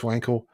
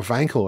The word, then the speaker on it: Wankel: know about it was felix wankel or vancle i suppose you should pronounce it because he's german he had no formal